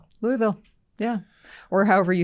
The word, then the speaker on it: Louisville: So Louisville is three syllables. So Louisville, Louisville. Actually, it's L O V U L. That's the I think it's probably more Louisville.